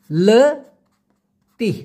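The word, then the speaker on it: letih: আবার অনেক ক্ষেত্রে বলা হয় লেত্তি, লেত্তি উচ্চারণটা হবে লয়েকার তয়রস্যি হ, লেত্তি।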